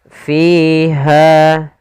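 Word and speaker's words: فِيهَا: ard wahail anam fiha fakihatun w nakakhlu dzatul akmam pada bacaan fiha maka di sini kedua-duanya ada mad thabi'i yang pertama pada lafal fi yaitu adanya Ya, kasrah bertemu dengan ya. Kita panjangkan dua harakat f-nya.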